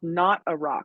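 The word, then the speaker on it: Knot-a-Rock: from ruffwear it's called not a rock and it's spelled k n a WT as in not not a rock and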